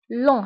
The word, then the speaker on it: lent: لون هنا لا ننطق تي، تكتب بالتي ولكن لا ننطقها، نقول لون.